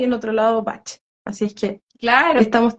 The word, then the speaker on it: Bach: también hay inglés y Google dice que eh se pronuncia Bach Así que toda la